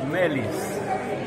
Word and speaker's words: meles: Todos os meles, que é assim que se pronuncia mel no plural, eu não sabia, aprendi recentemente.